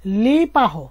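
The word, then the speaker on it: les parents: তো লেজ অফ সন্তান গুলু, আর পাহো অর্থ বাবা মা, লে পাহো এখানে একটা এস বসাতে হবে। বলার ক্ষেত্রে কিন্তু এসটা উচ্চারণ হচ্ছে না, কিন্তু লিখার ক্ষেত্রে অবশ্যই এস বসাতে হবে।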